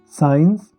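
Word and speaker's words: science: एस सी का जो combination है उसमें सी साइलेंट होता है। साइंस, sceptre.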